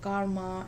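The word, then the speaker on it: कर्म: we all talk about karma and dharma and dharma, that's what in Hindi we call it as karm and dharm. Okay, that's how we pronounce it in Hindi, and it's a Hindi word itself.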